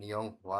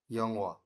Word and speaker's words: 영화: 1번 영화, কি বলছে ইয়ংহোয়া 2 নাম্বারটা ভেরি গুড এখানে একটা খেয়াল করে ইয়ং হওয়া না কিন্তু বলছে কি ইয়ং ওয়া ইয়ং ওয়া এখানে হওয়ার উচ্চারণটা আমরা শুনতে পাইনি আচ্ছা 2 নম্বরের গুলো পড়েন তো তাড়াতাড়ি দুধছং সিজাং 후청 시청 2번 시청 কি বলছে?